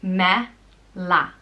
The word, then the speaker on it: Mealla: And it's pronounced Mealla. Mealla.